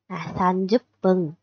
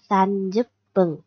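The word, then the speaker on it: 三十分: Trừ trường hợp 30 phút chúng ta không đọc là han mà phải đọc là sanjup pân. Nhé, đây. Hay 30 phút chúng ta phải đọc là sanjup pân.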